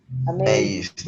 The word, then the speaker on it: amazed: So, what is the pronunciation in past? Amazed. Okay, please do not explode yet. D. No exploten la D.